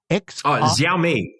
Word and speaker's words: Xiaomi: The Chinese EV car brand, is it pronounced Xiaomi? Xiaomi.